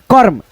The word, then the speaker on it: कर्म: होगा, इसको कैसे पढ़ोगे, इसको पढ़ोगे कमर, और कमर नहीं दोस्तों, कमर पढ़ोगे तो आपको पढ़ने का गलत होगा उच्चारण। कर्म, कर्म, यानी म पे लगा है तो म से पहले र का उच्चारण हम कर लेंगे फटाफट, जैसे कर्म ऐसे करके, है ना।